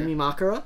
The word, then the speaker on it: Yumemakura: Yeah, it's usually on that third to last syllable. Yeah. Yumemakura?